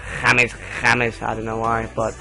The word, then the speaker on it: James: James Rodriguez and a lot of people say James but he his name is actually pronounced jameses I don't know why but don't ask me